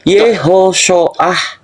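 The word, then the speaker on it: יהושע: Nah, kalimat pelafalan Yosua itu adalah Yehoshoah, ya, atau Yehoshoah.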